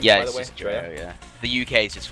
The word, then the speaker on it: Dreo: Is that how you pronounce the name, yeah, by the way? Just Dreo, yeah.